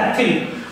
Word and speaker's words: ethyl: ऐसे ही आप नाम अगर थोड़ा सा लिखेंगे, बहुत सारे लोगों से इथाइल ब्रोमाइड भी बोलते हैं, तो आप अपने हिसाब से कोई भी बोल सकते हैं, बट the correct pronunciation is एथिल।